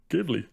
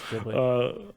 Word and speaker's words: Ghibli: was wondering if you were going to know how to pronounce this. Along with Studio Ghibli. Ghibli. Damn it. It's Ghibli.